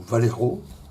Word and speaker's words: Vallejo: J'ai utilisé ce set, ici, Face Painting Set de chez Vallejo, donc, ou Valero, hein, si on prononce à l'espagnol.